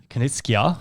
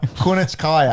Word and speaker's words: Kunitskaya: Kunitskia. Make sure you say the last name right. Kunitskaya.